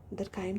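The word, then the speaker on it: Durkheim: Work from home, the educated specialized labor force, जैसे इसमें दुर्खीम का जो है, दरखाइम दुर्खीम जो भी हम प्रोनाउंस करें, तो दरखाइम का जो स्पेशलाइज्ड डिवीजन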